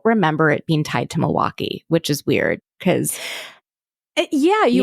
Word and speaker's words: Milwaukee: As Heather talked about on the episode, it's pronounced Milwaukee.